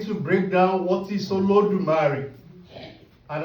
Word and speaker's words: Olodumare: We're trying to break down what is Olodumare. And I've just said Olodu. What happens to the other two syllables? Mare.